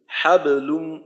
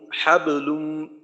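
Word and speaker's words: حبل: যদি শব্দের মাঝে হয় কলকলা যদি শব্দের মাঝে হয় ওই ক্ষেত্রে কলকলা হবে সবচাইতে কম যেমনটা কিনা এখানে হাবলুম হাবলুম এখানে হবে কলকলা সবচাইতে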